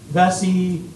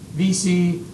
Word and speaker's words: Vesey: as Denmark Denmark Vesey his name's pronounced differently historians Vesey VC yeah so I I just go Denmark Vesey he gets his name